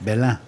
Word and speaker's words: Belin: Belin yazılıyor. Belen mi okunur? Belin mi? Evet. Belen. Belen.